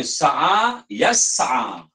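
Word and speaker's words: سعى يسعى: Qada yaqdi, okay, tapi yang ni dibacanya sa'a yas'a. Jadi adalah satu dua yang tidak sama dengan perkataan-perkataan yang biasa kita dengar.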